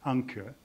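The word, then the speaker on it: ANCIR: c i r uh south africans pronounce it anchor but basically it's a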